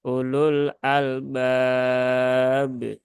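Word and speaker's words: أُولُو الْأَلْبَابِ: Baru kemarin kita menemukan lagi ada sahabat kita ketika bertalaki membaca di sini terbaca U-nya panjang. Ulul albab. Nah, maka ini kurang tepat. Sehingga ini cukup dibaca satu saja. Ulul ya. Ulul albab.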